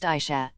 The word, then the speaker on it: Asha: her hair in pigtails her name is pronounced Aisha Cleveland County Sheriff's Office